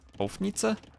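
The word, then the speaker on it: Houfnice: Should be the same as the second syllable in crossbow. Like, Hofnitze?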